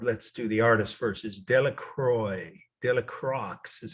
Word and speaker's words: Delacroix: say it in Indiana De La Croix if you're from New Jersey but it's a French name of course D I'll spell it slowly d e l a c r o i x De La Croix is